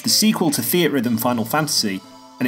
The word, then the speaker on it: Theatrhythm: first off how the hell do we pronounce the name of this game I've always said fear to rhythm square enix PR have been known to say it like this but the games producer has been filmed saying Theatrhythm I'm gonna trust him for now Theatrhythm Final Fantasy curtain